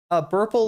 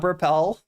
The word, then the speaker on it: Burple: It's Ro. Burple like purple. It's not Burpel.